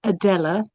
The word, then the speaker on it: Adela: Yeah, Adela. How am I pronouncing your name correctly? You're muted. Okay, my name is Adela with an A at the end.